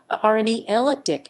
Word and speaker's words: Arnay-le-Duc: arne leduc arnela duck french pronunciation rne ella dick is a commune in